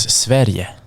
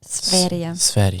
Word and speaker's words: Sverige: Sweden in Swedish is Sverige. Sverige.